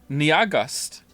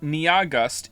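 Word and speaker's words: Nyahgust: that you have gust Nia gust it's pronounced like August how are you getting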